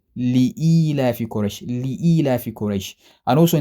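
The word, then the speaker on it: لإيلاف قريش: You see, back in the day, I used to think Surah Al-Quraysh used to be Ila fi Quraysh, until I realized that that's not how to pronounce it. That's not the proper way of reading it. I omitted a letter called Lam. It is meant to be Li-ila fi Quraysh, Li-ila fi Quraysh.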